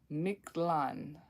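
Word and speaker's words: Mictlan: to like say this one I forgot again miklan the king the kingdom of of the the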